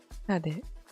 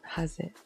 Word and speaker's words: هذه: Hade. What? Okay. It is Z, but it's not pronounced like Z. هذه أمي. Hade. It's a very soft Z. It's not haze.